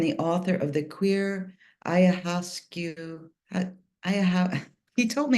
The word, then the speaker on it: ayahuasca: It's pronounced ayahuasca, but it's okay.